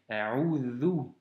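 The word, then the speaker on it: أعوذ: Ici, c'est un Vel et donc c'est A'udhu.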